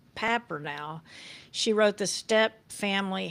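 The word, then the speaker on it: Papernow: She's a world famous researcher on blended families, and her name is Patricia Papper now, although it's paper now. It's what it looks like on, paper now, but it's pronounced Papper now.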